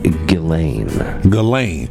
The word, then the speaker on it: Ghislaine: I heard someone pronounce it correctly, and I was like, that's what it's supposed to be. Okay. It is Ghislaine.